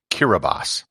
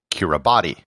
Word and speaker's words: Kiribati: this country is pronounced the correct pronunciation is kiribas now if you look at the title of the show you probably said to yourself that it was pronounced kira body if that's what you